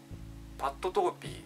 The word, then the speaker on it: Pat Torpey: ていきたいとおもいますミスタービックパットトーピーちゃんと名前の読み方ですパッ